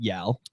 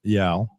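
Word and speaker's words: YAL: which is one of the derivative romal organizations pronounced yaal yaal pretty good organization uh I was out of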